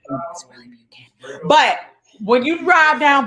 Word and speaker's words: Buchanan: I'm from Ohio, so I say Buchanan, but I know the proper way to say it from Nashville is Buchanan, right? But it's really Buchanan.